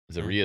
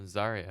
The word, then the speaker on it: Zaria: he called her Z what's the pronunciation I'm not Zia no Zaria is correct no Zaria right you said Zaria a lot Z that was no zarya oh zarya so he was saying